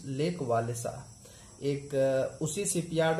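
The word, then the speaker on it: Lech Wałęsa: Farmer electrician of the shipyard लिच वालेसा, pronounce lake वालेसा, एक उसी shipyard में पहले काम करने वाला एक और इलेक्ट्रीशियन था जिसका नाम था लेक वालेसा।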